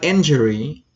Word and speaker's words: injury: just actually the word injury injury injury injury eat nut in jury injury you stay on the first syllable in injury injury is similar to